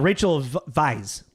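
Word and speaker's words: Weisz: forget uh it's it the W is pronounced with a V like it's like German German we will ask the questions um anyways we've asked the questions um uh Rachel vice vice yeah Vice it's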